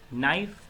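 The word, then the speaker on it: knife: नाइफ, again K silent है।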